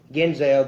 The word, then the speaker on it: Genzal: Lounge with actress Genzal. Now, I know that I want to know this. I know that your last name is pronounced Genzal, the same thing as Denzel Washington.